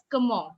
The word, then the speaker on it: comment: But in French, the word is pronounced as comment, which means how.